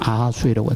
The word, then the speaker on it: 아하수에로: 세계 역사에 크세르세스인데 이것이 히브리식 발음으로 하면 아하수에로가 됩니다.